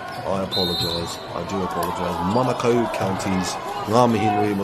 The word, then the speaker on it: Manukau: But it is Manukau.